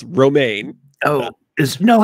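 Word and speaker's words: Romijn: John Cho Wil Wheaton Rebecca Raman not ramen noodles romaine Oh is no how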